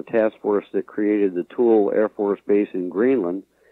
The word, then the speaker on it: Thule: And the Greek pronunciation is different. It's sort of a soft TH like Thule, but they use the Latin hard T, Thule, in the name of the air base and all that.